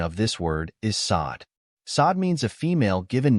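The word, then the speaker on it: Saad: English it is spelled as sad the correct pronunciation of this word is sod sod means a female given name of African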